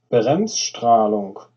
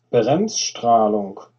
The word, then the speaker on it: Bremsstrahlung: I can't pronounce it, so I'm going to get something to pronounce it for me. The German word is Bremsstrahlung. I'll do that again. Bremsstrahlung.